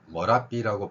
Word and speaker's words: Merapi: 또한 의에 비슷한 발음으로 머라비라고 발음하는 사람들이 있습니다. 그러면 현지에서는 어 발음을 하고 있는데 이 어 발음이라고 하면은 또 영어로 어떻게 표기할 것인가?